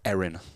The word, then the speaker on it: Aaron: Oh, that's 4 runs to Aaron. Actually pronounced Erin, interestingly. I think he's just twinged his back there, the way he's sort of put his right hand around there.